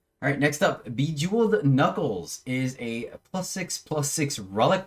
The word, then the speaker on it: Bejeweled: It's Bejeweled. Bejeweled.